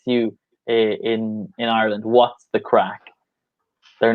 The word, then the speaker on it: craic: spelled like yeah so crack because it's an Irish term it's spelled like this but the pronunciation is still the same as crack like when you crack your knuckles or something like that